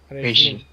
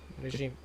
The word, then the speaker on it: regime: regime okay okay and the pronunciation also has the J sound regime regime so he follows a